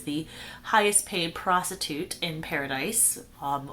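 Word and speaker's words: Pair-a-Dice: highest paid prostitute in paradise um which is spelled p a i r dash a dice like gambling paradise um but obviously it's supposed to sound like paradise as well so he sees her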